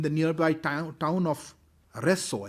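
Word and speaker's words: Rzeszów: nearby town town of resso i think it's pronounced reso and a number of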